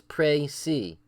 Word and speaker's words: précis: You see how it's the long A and the long E, so it's précis.